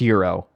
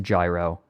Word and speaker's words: gyro: Misa who did that I I know it's pronounced Euro I know it's not I know it's pronoun I know it's not pronounced gyro let me see all right yeah that's that's